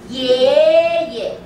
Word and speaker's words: 爷爷: Our data shows none of you know how to say the neutral tone. Okay. So it's 爷爷。